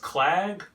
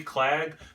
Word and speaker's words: Clag: It's from, I'm assuming it's pronounced Clag, like lag with a C, Clag, maybe Clag.